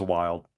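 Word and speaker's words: Wyld: More specifically, it's a guy called I think his name is Wild. I think that's how it's pronounced. Yeah, it's Wild.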